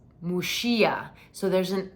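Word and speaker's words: Muxía: not yet gone I'm dying to go it's mushia so there's an X which in Gallego in the local language in Galicia is pronounced like a song Sound I shouldn't have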